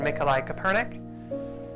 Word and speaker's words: Mikołaj Kopernik: We use the Polish pronunciation Mikołaj Kopernik. Nicholas Copernicus is the English pronunciation.